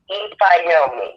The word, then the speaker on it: Ifyaomi: listeners audience can know, my name is pronounced Ifyaomi. So, like, it's spelled Ifyaomi, but what I share with most people is if you just remember that the I is pronounced E, when you look at it, it's spelled exactly how it sounds.